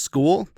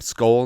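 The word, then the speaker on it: Skule: week one, would you rather have Rouse or school? He needed to change his name, right? I know it's pronounced school, but he's on the Vikings now. Can can we just call him call him Skull now?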